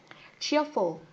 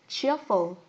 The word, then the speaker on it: cheerful: Với âm đầu tiên, đây là âm chờ trong tiếng Anh, chúng mình sẽ phải tròn môi các bạn nhé. Cheerful. Cheerful.